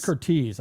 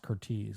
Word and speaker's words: Curtiz: his last name right is it Curtis or CZ I think it's ctez I've always heard it pronounced ctez I think that's what it is too it's but it's just so easy to say ctis when you're speaking yeah especially anyway Michael